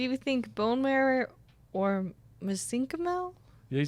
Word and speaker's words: mesenchymal: So do you think bone marrow or mesenchymal?